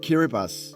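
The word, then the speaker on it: Kiribati: kittas well it's actually spelled kibati but it's pronounced kiribas it was one of the most scenic airport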